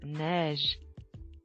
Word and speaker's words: neige: In French, it is neige. Pronounce it with me.